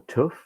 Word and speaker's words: TÜV: So you either go to TÜV or TÜV, as it's pronounced in German.